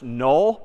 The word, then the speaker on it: NUL: we're going to see another word pronounced null but spelled n l left hand wasn't talking